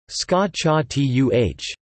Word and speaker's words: scacciata: The word scacciata is pronounced scacciatuh and can also be referred to as sciacciata,